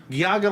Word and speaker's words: Geauga: if we're finally here for our main topic, Geauga Lake. Geauga. See, I already screwed it up. Yeah, it's a complicated name. It's spelled Geauga.